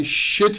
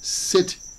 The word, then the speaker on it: sit: But be careful, because if you pronounce sit with the SH, Well, the sound is, can I shit here? And I don't think anybody wants you to shit here. So, can I sit here?